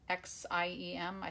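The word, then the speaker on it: Xiem: dental tool but some xie mi think it's pronounced sim use make selfies they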